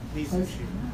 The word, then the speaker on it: Mizushima: Where's the accent? All over. All over? Each syllable, well, Mizushima.